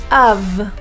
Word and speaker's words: of: in English let's go of the main issue with this word is the V pronunciation it's spelled with an F but it's pronounced um